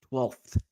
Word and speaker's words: twelfth: yeah isn't that uh like holy it's cold there's an F in there 12th 12th well that makes it even worse 12th because I want to pronounce every consonant twelfth twelfth I slept with